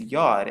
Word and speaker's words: yod: this letter right here is yod as you can see and it's pronounced with the yes sound or it's pronounced like a y now as you can